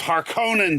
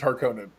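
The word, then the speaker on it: Harkonnen: right I do believe it's har Conan well har Conan is how they said it in the David Lynch film okay okay okay and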